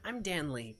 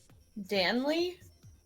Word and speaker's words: Danley: Danley? Danley. Danley. Like Stanley, but with Dan. Danley is how his name is spelled. Danley. Oh gosh. Yeah, so Danley. Okay. Danley. Yes, like Stanley, but Dan.